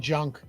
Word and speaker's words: Junk: I was like, maybe the J is silent, you know? Maybe it's pronounced with an H. It's not. His name's Jansen Junk.